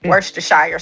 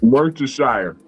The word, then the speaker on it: Worcestershire: Worcestershire sauce. Worcestershire.